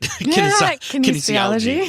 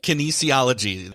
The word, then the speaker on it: kinesiology: Kinesiology. Yes. Kinesiology.